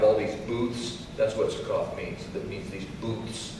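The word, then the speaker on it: Succoth: back to say here Jacob however went to suak where he built a place for himself and it's actually pronounced Sak he built a place for himself the word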